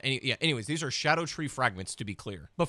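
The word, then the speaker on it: Scadutree: by the way Lads these are pronounced Shadow tree fragments everybody says skibbidy fragments or uh scatter tree fragments but uh basically in Old English I guess like SC is pronounced sha so these are just called Shadow tree fragments which when you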